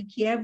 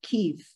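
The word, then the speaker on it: Kyiv: So we don't say Kiev, we say Kiev because it's Ukrainian.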